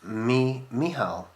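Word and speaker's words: Mícheál: Dear Will, my name is Michael, pronounced Mihal. Oh, okay, sorry.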